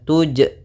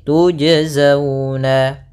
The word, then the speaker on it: تُجْزَوْنَ: Tujzawna, bukan tuj ya. Tapi tujazawna. Kemudian pada lafal zau di